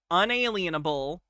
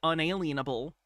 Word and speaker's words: unalienable: That's a thing a lot of sovereign citizens get wrong. I don't know who started it, but they started to say it as unalenable. Probably because someone didn't know how to say it. And then eventually it's just become the standard way they say unalienable. Unalanable because they think it means they can't put a lean against your rights.